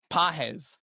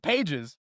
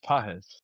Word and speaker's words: Pages: Boy, Andy Pajes, not Pages. Pajes. it's spelled like Pajes. Pages, but it's pronounced Pajes.